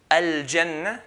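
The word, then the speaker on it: الجنة: So jim, al-jannah, like the J in English.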